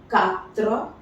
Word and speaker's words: quatre: Quatre. This is just k. A is always A, as we have already seen, so this becomes quatre.